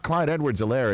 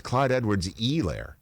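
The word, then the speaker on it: Clyde Edwards-Helaire: and then just recently it's not clyde edward's a lair it's clyde edwards elaire which is what he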